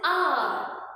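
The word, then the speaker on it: hour: H is silent here. The sound is R.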